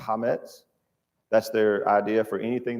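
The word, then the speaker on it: chametz: They call it hametz. It's spelled CH, but it's I believe it's pronounced hametz.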